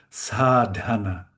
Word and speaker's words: Sadhana: Again, this is an aspired sound. Sadhana. Sadhana. There's a D and we let it explode a little with a little with a little air. We keep on to the D a little bit and then let it let it explode almost.